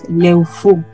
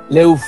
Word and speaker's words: Leufu: Leubu, hay distintas pronunciaciones dependiendo del lugar. Por ejemplo, en Alto Biobío se pronuncia más como una B, Leubu, pero más al sur o en la zona de Temuco se pronuncia como una F, Leufu.